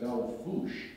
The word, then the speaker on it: Belle Fourche: um oh now here I am a near Belle Fourche which is pronounced by the locals Mel Fouche for some reason um North Dakota which says